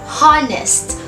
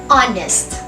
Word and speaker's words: honest: is not pronounced as honest we pronounce it as honest having the initial sound of a vowel that's why the correct